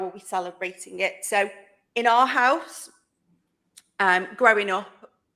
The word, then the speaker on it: Samhain: are as well because people in Scotland will pronounce it with a V sound so a stubborn sound